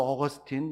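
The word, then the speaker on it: Augustine: 가장 깊이 있는 연구를 하신 분이 누구냐면 영어 발음으로 어거스틴 많이 들어보셨을 텐데이 아버지 뉴스가 삼위일체론이라고는 책을 썼는데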